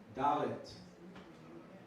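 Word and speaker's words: דלת: Dalet. Dalet. The D sound. Like door.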